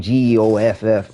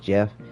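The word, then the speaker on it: Goff: He spells his name G O FF or G O F, something like that. Looks like G off, but yeah, it's pronounced Jeff.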